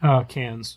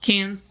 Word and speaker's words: Cannes: Is it Cannes? Cannes? How do you say that? The film festival? Cannes. Cannes Film Festival.